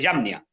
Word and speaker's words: Jamnia: que se llama el Concilio de Yamnia. Se escribe Jamnia.